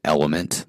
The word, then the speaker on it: LMNT: States and they proun they pronounce it element like the elements of sodium magnesium Etc and it's a it's